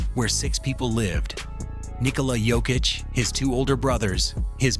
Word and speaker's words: Jokić: Nicola Yokic, his two older brothers, his mother, his father, and his grandmother.